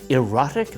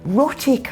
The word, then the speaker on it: rhotic: Erotic R sounds? No, rhotic R sounds. It means you pronounce your R's strongly.